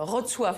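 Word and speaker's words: Wrocław: À Rotsof. Alors ça, il paraît que c'est la prononciation polonaise.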